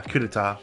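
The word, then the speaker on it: coup d'état: coup d'etat okay I thought that's how you pronounce it but it didn't look right so yeah coup d'etat I knew that devoted to a certain student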